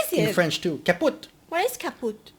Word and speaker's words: kaputt: we pronounce it the same way, kaput.